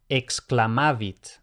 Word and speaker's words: exclamavit: Por lo general va a ser KS más la C que se pronuncia K. Por ejemplo, exclamavit.